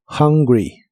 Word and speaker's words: hungry: y usaremos la palabra hungry que significa hambriento o con hambre la H de esta palabra se pronuncia como una J muy suave de español y la u se pronuncia como a hungry H y usaremos la